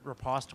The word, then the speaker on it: riposte: I've never heard it pronounced like that ever. That's because it's like French.